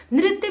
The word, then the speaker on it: नृत्य: And na down like a C letter is there. Means this is Ri ki matra. So and na if Ri ki matra is there, pronunciation will be Nri. Half the ya. Nritya.